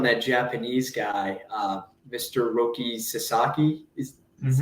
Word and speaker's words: Roki Sasaki: still waiting on that Japanese guy uh Mr Roki Sasaki is is how you pronounce yeah he's he's gonna be a padre